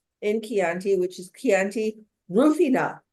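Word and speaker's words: Rùfina: keti which is kti rufina not rufino which is a producer rufina and they actually on the labels put a little accent so you'll make sure and pronounce it that way this is um Northwest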